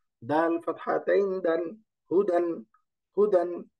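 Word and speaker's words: هدى: দা হা দম্মা হু দাল ফাতহা তাইন দান হুদান হুদান উচ্চারণ হবে হুদান হুদান আল্লাহু আকবার একই রকম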